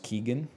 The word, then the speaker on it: Keoghan: It's just pronounced Keegan.